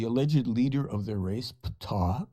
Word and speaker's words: Ptah: leader of their race, Ptah, pronounced P-T-A-A-H, sounds like the ancient god of Egypt, P-T-A-H.